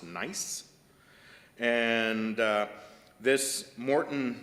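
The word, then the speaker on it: gneiss: is called the Morton nice it's spelled g-n-e-i-s-s but it is pronounced nice and uh this Morton nice is named after the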